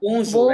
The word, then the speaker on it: bonjour: আচ্ছা, ভাইয়া বজু উচ্চারণটা, bonjour, right?